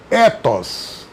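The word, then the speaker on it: ἔθος: A ética, se eu pronuncio ethos, significa costume e hábitos.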